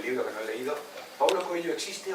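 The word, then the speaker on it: Paulo Coelho: Latina había sido invitado Pablo coello y que no sé muy bien nunca sabido real se pron Paulo coello Paulo coelo tamb lo digo es la pronunciación de ese dígrafo en portugués muy complicada es muy complicada No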